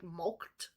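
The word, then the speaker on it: mulcted: looked at the word milk is spelled here m-u-l-c-t-e-d like mulked okay and it means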